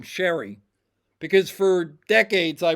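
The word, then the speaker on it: Cheri: actually pronounced her name Sherry because for decades I pronounced it Cherry. Okay. But at least the way it looks it looks like Cherry to me.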